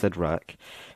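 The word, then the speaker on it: Cyttorak: for Thor's hammer, and the gem of Sidrak, I think it's pronounced Sidrak, for Juggernaut.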